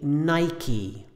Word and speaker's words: Nike: American English we say Nike this is two syllables and it ends in the vowel e this is a word